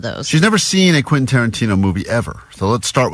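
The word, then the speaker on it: Quentin Tarantino: Vanessa has never seen a Quinton Tarantino movie and she's never successfully pronounced Quinton Tarantino. That's true. all week as she's been talking about this prize we have. She's been saying quasa quainton quaintana. So quinta nana.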